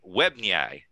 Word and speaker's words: Webnyay: And I know I'm going to pronounce this incorrectly, Vishwam, so I apologize. But Webnyay. That's actually right.